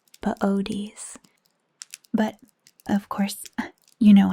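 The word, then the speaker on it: Boötes: One of my favorites we almost see this time of year is booties. It's spelled B O O T E S. It's actually pronounced bodies.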